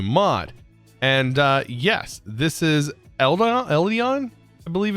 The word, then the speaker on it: Eidolon: And yes, this is Eidolon, I believe it's what it's pronounced. Sorry, it's Adolan. Adolan. I need to like remember Dolan and then Adolan.